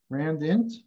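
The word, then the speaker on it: randint: Okay, rhymes with tint, rand int, right?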